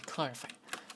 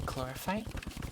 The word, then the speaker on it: chlorophyte: It doesn't say chlorophyte? Does it not? No, chlorophyte. It says chlorophyte. I don't know what you mean. I don't know what you're on about. Because PH is pronounced F, basically.